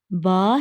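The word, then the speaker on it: باء: you origin of B pronounced as ba using inner part of the both lips to touch each each other from here we can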